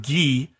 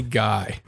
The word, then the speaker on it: Guy: the end of last episode the circus recovered ghee yes his name is gay now that I'm doing the synopsis I'll pronounce his name right again you can bow